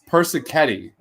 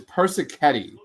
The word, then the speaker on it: Persichetti: me or daddler i i think i said it right persichetti it's percy ketty that's it oh oh